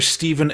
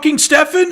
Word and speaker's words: Stephen: 30 years of me being a Descendants fan, calling the guitar player Steven Egertton, only to see their documentary and they go, "Stephen," and I'm like, "His name is Stefan. It's spelled Steven."